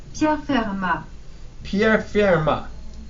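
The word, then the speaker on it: Pierre Fermat: closely you'll hear the computer pronounce his name as Pierre ma yeah I've been doing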